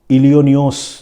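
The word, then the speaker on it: इलिनॉय: Dare devil, इन्होंने लिखा है कि इलियोनियोस जो है वो अमेरिका का वो टाउन या वो शहर है जिसमें एस जो है वो साइलेंट है, तो इसीलिए उसको प्रोनाउंस करना चाहिए इलियोनॉय।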